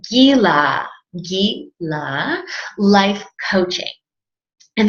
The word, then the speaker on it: GILA: first reaction when reading the card is Oh shyla life coaching no Sheila needs Jula right jhoola life coaching nope guy lots gotta be Kyla do you know so it's actually pronounced Gila ye la life coaching and there's two meanings